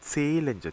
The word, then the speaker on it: zählen: zahlen하고 다르죠. zählen이죠. zählen. 자, 이때도 보니까 모음 뒤에 하가 붙어 있으니까 앞에는 길게 해서 zählen.